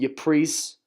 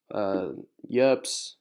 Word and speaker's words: Ypres: The final major battle on the Western Front was the Battle of Ypres, Yerps, whatever it's called. Just remember how it's spelled. Yerps, kinda.